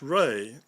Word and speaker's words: Ra: walking stick even Ray sometimes spelled ra is pronounced Ray r a y in reality it really means